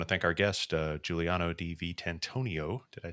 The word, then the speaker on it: Giuliano Di Vitantonio: uh I want to thank Our Guest uh Giuliano d v tantonio did I say it correctly that time perfect